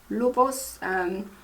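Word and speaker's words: Luvos: So next one we have a mask, and this one is from Lubos Natura Cosmetics. That's how you pronounce it, Lubos.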